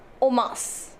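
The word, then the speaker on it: en masse: and mas okay now this is pronounced as o mas okay o mas and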